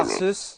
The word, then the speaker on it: Arceus: Est-ce que Oh tu là prononces là là là. Arceus?